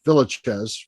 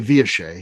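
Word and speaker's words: Villechaize: The next one, I think most people say Hervé Villachez, but I believe he pronounced it Hervé Villachez. He was French, of course, so say it however you want.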